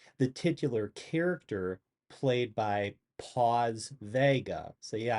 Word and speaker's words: Paz: Um, but it's his girlfriend, it's Lorenzo's girlfriend, the titular character played by Paz Vega. So yeah, I know it's spelled P-A-Z, but think pause, as in please don't pause this video review.